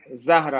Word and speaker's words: Zahra: I'm also launching another big project called What Zahra. is it? Sahara. Yeah, it's Zahra.